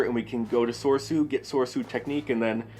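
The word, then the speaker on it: Soresu: It's Soursu.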